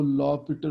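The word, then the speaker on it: L'Hôpital: यूज़ होता है, इसको लॉ पीटर रूल कहा जाता है। ये वैसे तो लॉ हॉस्पिटल लिखा हुआ है लेकिन इसकी प्रोनाउंसिएशन जो है लॉ पीटर रूल जो है इसको पढ़ा जाता है।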